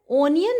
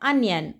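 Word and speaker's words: onion: एंड प्याज का जो प्रोनाउंसिएशन होता है वो ओनियन नहीं होता है, ना ही अनियन होता है, वो होता है अनियन।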